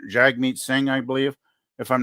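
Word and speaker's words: Jagmeet Singh: NDP the new Democratic party with j j Jag meat Singh I believe if I'm not mispronouncing that name is no it's Jag meat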